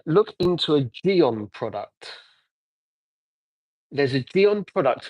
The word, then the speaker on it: Gyeon: So Gabriel, it is called Geon, which is spelled Gyeon.